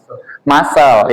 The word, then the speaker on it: muscle: Muscle, ya muscle, not muscle. Muscle. Coba follow me, muscle. Not muscle. Muscles ya.